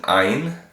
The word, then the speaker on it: Ayin: This is an Ein. Ein is typically silent, and it takes on the sound of the vowels that it has been given.